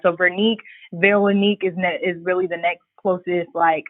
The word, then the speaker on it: Vernique: So my grandfather's name is Vernique, but it's pronounced the same in French, Vernique.